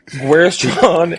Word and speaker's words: Guerschon: Josh, Josh, how you say his name, Josh? Is I pronounced it right? No, Guerschon? Yeah, Guerschon but Yabusele.